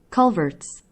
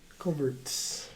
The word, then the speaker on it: culverts: to say culvert oh culverts culverts this was the team yeah but it's weird you uh you culverts you have to force the t though it feels unnatural that's because you're putting